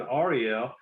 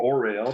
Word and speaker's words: Orel: They don't want to go back to communism, but we were in Ariel or Orel, depending on how you pronounce it.